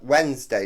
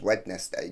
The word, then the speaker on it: Wednesday: Like Wednesday, no one says Wednesday, do they? Actually, I hear posh people all say it.